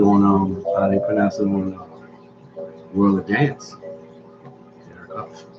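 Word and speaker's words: Hough: It's Huff. Like tough. Yeah, Like she would know enough. her last name. Look at how it's spelled. It's like tough. Huff. Enough. It's Huff.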